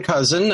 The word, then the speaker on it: Kousen: well my name's ken cousin uh the last names pronounced cousin like the relative even though it doesn't look like it my day job primarily